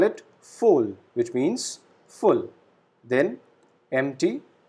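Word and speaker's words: voll: doom full full again v alphabet is pronounced as f we call it full which means full then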